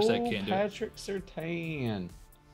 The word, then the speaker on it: Surtain: Patrick Surtain. Pretty sure it's pronounced Surtain, but okay.